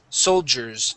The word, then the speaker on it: soldiers: So, we want to pronounce a J sound. Soldiers. Try that. Soldiers. Okay. Sold. Soul. Like we're saying jobs. Jobs.